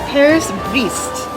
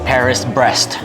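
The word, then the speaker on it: Paris-Brest: to pronounce and I think it's pronounced Paris breast and it has caramel butter it's got sweet potato cream whipped cream candy nuts and also another thing that's really hard to pronounce the waiter said he thinks it's Petit a I would I would have just called it Paris breast no s in that it looks like a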